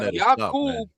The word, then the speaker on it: Yaqub: Nah, Yaqub is how you pronounce it.